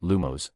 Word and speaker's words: Lumos: Let's practice the lumos charm.